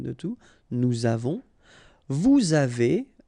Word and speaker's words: avez: two, nous avons, vous avez, a Z at the end will produce this E sound, avez, little link between